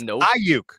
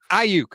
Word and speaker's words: Aiyuk: It's Aiyuk, dude. It's not Aiyuk or Aiyuk. It's Aiyuk. It's not that hard.